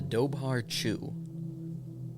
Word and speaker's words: dobhar-chú: got to start with the water drink the doar chu Irish pronunciation that oh yeah this is important too